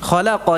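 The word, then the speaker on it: خلقا: Fathahkan qafnya, khalaqal, dan lamnya tipis, bukan khalaqal. Nah, lamnya tipis nggih.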